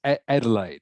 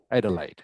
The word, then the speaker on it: Adelaide: adelaide and hobart correct it's adelaide that's pronounced adelaide adelaide and hobart correct um